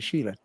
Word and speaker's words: Schiele: And this is music for Egon Schiele. That's how you pronounce it, Schiele, the famous artist.